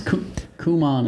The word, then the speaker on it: Kumon: This is Kumon is how you really pronounce it.